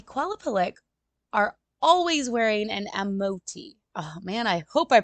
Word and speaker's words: amauti: The Qalupalik are always wearing an amoti. Oh man, I hope I pronounced that right. I am so sorry for this mispronunciations. But the amauti, which is Amauti, it is that parka type